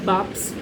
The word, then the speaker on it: BAPS: जैसे कि मैंने एक्चुअली BAPS जो भी आप प्रोनाउंस करना चाहें, इट्स बाप्स.